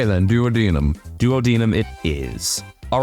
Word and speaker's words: duodenum: how about another duodenum is it duum or duodenum I always forget how it's pronounced I know in the song pancreas the Weird Al song he says duodenum but that might just be to make it like flow rhythmically no I believe that is the correct American pronunciation okay then duodenum duodenum